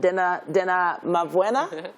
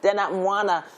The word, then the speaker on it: Dena Mwana: Dena Mavwena? No, Mwana. Dena Mwana, and several others.